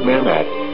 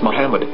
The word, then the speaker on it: Muhammad: According to Ben Yehuda's Hebrew-English dictionary, it is correctly pronounced as Muhammad, not Mamad. So how we're going to know for sure if it's pronounced as Muhammad, the Muslim prophet, or as Mamad, a random Hebrew word?